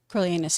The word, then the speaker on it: Coriolanus: I thought he was so good as Coriolanus. Is that how you say it? Coriolanus, yeah.